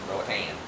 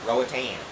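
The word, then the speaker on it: Roatán: Like we talked about, I've been kind of pronouncing Roatan wrong, but I mean it's like Roatan, like an an.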